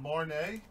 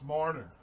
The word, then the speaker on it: Marner: It's pronounced Marnay. Listen, all right? It's Marner. You don't correct me, M. King. I correct you.